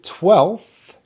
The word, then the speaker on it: twelfth: make some vibration but with twelfth actually we use an f at the end and the only difference is there's no vibration so you still put the teeth on the on the bottom lip to make the sound this ordinal number contains a short vowel sound air as in pets so we start with the twa and then the e we have the f sound and then the th sound twelve twelve 12th 12th so unlucky for